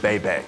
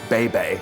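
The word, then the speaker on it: Bay Bay: It's It's again, it's baby. It's not bay. I'll trade you a bay for a hey. Adam Cole, baby.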